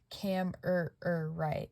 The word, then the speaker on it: Kammererite: together and it is it is said cam right it is spelled how it sounds it's very interesting but